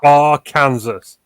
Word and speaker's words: Arkansas: You don't know if I'm from, West Memphis, Arkansas, if I'm from Memphis, Tennessee, if I'm from Mississippi. You don't know where I'm at. It's Arkansas, all right? It's not the Kansas City Chiefs. It's Kansas. It's Arkansas, all right?